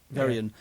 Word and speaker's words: Veryan: Which I Is that how you pronounce it as well? Very in. Very in.